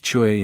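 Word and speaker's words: 吹: Chui, pronounced like chui with a forceful exhale, which is associated with the kidneys.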